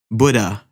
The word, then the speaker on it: Buddha: dd h a and if you say it properly it's buddha earlier so yeah again